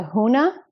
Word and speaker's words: huna: Because I keep saying it wrong. Huna. Yes, I said it right.